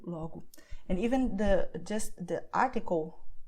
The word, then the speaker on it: logo: And that the letter O at the end of the word will be pronounced as U, like in obrigado, como, logo.